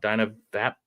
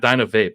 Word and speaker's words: DynaVap: gentleman from Dina Dina oh I said it wrong Dino VAP it's not Dino Vape I think it's dap um talked to him the